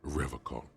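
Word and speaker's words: Revachol: stay strong forever call he pronounces rivercon with a hard k unlike other people anything about the manhunt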